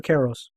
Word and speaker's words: Kairos: Is it Kairos or Kairos? Well, it's pronounced both ways, but we pronounce it Kairos in our household.